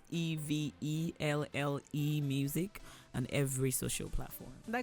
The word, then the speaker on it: Evelle: Thank you so much, Evelle.